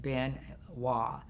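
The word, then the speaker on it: Biên Hòa: bin wah bei in and then HOA this pronounced bin wah and I was in this space and there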